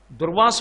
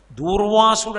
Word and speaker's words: దుర్వాసో: మీరు కొంచెం జాగ్రత్తగా చూస్తే దుర్వాసుడు అంటారు తప్పు అసలు అది ఉచ్చారణ దోషం దుర్వాసో మహర్షి ఆయన పేరు దుర్వాసో మహర్షి క్రోధ భట్టారక అందుకే ఆర్య